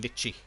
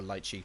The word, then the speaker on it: lychee: This is a wiggly litchi, or lychee, depending on how you like to pronounce it.